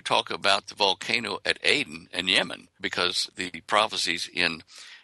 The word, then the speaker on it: Aden: found the volcano called Aden, which is the way you pronounce the Garden of Eden in Hebrew and Arabic. It's Aden, A-D-E-N.